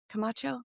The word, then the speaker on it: Camacho: Did I pronounce that right? Camacho.